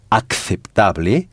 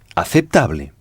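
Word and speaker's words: aceptable: Donc, on ne dira pas acceptable, mais acceptable. Alors, encore une fois, c'est acceptable se dit Est-ce Est-ce acceptable? Les? encore? Est-ce acceptable? D'accord, mais on accentue l'avant-dernière syllabe. C'est-à-dire que c'est sur cette syllabe qu'on insiste.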